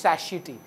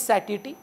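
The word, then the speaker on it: satiety: वो लमाटनेर में जो पढ़ते हैं जनरली बच्चे कि नो भैया इट्स नॉट सटाइटी, इट्स सैशिटी। तो okay, for यू इट इज सैशिटी, फॉर मी इट इज सटाइटी। The correct pronunciation is सैटिटी, दो it sounds better, it comes from satisfaction.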